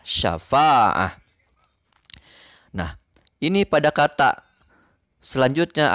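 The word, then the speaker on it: شفاعة: Huruf terakhirnya tak marbutoh yang bertanwin fathah. Karena tak marbutoh yang bertanwin fathahnya, maka tetap tak marbutohnya ini harus disukunkan. Tetap berbunyi ha. Dibacanya syafa'ah. Ditulisnya syafa'atan. Dibacanya syafa'ah.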